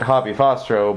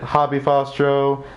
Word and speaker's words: HaBeFaStro: with my channel name i pronounce it hoppy fostro but personally I don't think there is a wrong way to say it so everyone's free to to pronounce it however they wish some people have pronounced it hobby fostro some people pronounce it hey fast ro some people have even pronounced it had be fast TRO it gets real funny